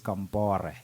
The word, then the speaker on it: Compaoré: He is Blaise Compaoré.